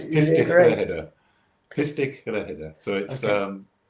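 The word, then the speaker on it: Pistyll Rhaeadr: is a place called Pistol Rider in Wales, which I've pronounced wrong. Sorry to any Welsh listeners. So we got to spell it then, so because I'm darn curious already. It's Pistich Rhehedr in Welsh. Oh, that makes it easier. Pistyll and then Rhaeadr. Pistich Rhehedr.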